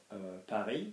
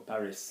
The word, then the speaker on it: Paris: So for example, if I have Paris, the country, pardon me, the city, I'm not going to say Paris, am I, or Paris, like in English.